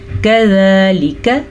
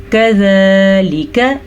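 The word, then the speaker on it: كَذَٰلِكَ: آپ نے کیا پڑھنا ہے کذالک، کذالک یہ کھڑی زبر ہے، اسے ہم کھینچ کے پڑھیں گے.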